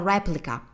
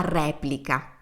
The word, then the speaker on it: replica: Is this work original or a replica? Quest'opera è un originale o una replica? Notice how we use exactly the same word for replica, but we pronounce it differently, slightly differently.